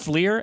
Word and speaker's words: FLIR: Kind of looks like how's it pronounced? FLIR, F-L-I-R, forward-looking infrared image, like Predator Vision, if you remember that movie.